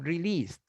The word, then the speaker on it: released: the last letter of released d is a d and the pronunciation is like a t released okay release yes okay